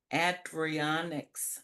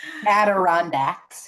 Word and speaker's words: Adirondacks: Adrianics. I can't pronounce that. Adrianics. Okay, I'm not pronouncing it. Adirondacks. You were very close.